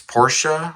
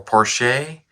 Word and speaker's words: Porsche: So I understand it's Porsche or Porsche, Porsche, which right here.